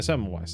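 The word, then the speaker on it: Semmelweis: is long and depressing ignar SE sewi yeah seise that's how you pronounce that one utterly destroyed for suggesting doctors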